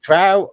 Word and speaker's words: Trow: Trow rhymes with cow, or you can go burn your source books.